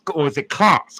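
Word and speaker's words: Kloss: So, we're going to get busy reading this book titled Back to Eden by Jethro Glass. Or is it Clauss? Clauss. K L O SS. His first name is spelled J E T H R O.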